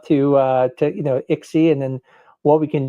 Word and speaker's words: ICSI: So, you know, Ixie is is the way we refer to it. It's spelled ICSI.